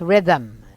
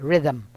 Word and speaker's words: rhythm: This is pronounced as rhythm. Hard theta sound for the TH here, rhythm.